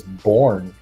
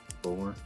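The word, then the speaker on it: Bjorn: I think his name is Born. I think the J is silent. Okay. Born.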